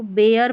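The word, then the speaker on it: bear: जैसे देखिए ई ए है, यहाँ पर इसको बेयर पढ़ेंगे, एयर करके पढ़ा जा रहा है, बेयर, पेयर, वेयर। तो यहाँ पर जो ई ए है इन स्पेलिंग्स में ई ए के बाद में आर रहता है, तो यहाँ पर ई ए को एयर करके पढ़ते हैं, ये है रूल।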